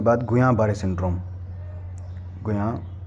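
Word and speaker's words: Guillain: And multiple sclerosis, multiple sclerosis के बाद गुयां बारे सिंड्रोम, गुयां बारे, ये डबल एल साइलेंट है यहाँ पर, ठीक है, गुयां बारे सिंड्रोम।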